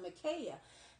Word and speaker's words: Micaiah: There was a prophet named King Micaiah, I believe you pronounce it Micaiah.